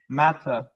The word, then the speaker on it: matter: Mouth shape one for the second syllable. Matter. Matter. No, you see, you're going te. Matter. It's matter. Matter. No. The vowel in the second syllable is matter.